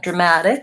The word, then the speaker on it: dramatic: follow the app and dramatic schematic because that T is between two vowels I use a flap T there sounds a little bit more like a D dramatic dramatic I can't say